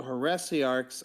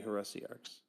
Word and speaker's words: heresiarchs: But if you say heresiarchs, you can break it down to 3 at the same time. So it depends on how many syllables the person is trying to put into the Also sentence true. itself at the same time. So because like you can say it fast enough to make here into 1 syllable. You can say heresiarchs, and then it becomes 3 syllables instead of 4.